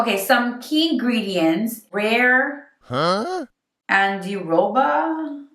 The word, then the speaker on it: andiroba: Andiroba. I literally looked up online how to pronounce that word.